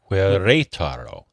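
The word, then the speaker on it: Querétaro: I don't know how to pronounce that. I think that's right. Queretaro.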